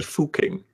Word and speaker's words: Fucking: How would you pronounce that? Yes, the first ranker got it pretty much right. Yeah, it would be Fucking.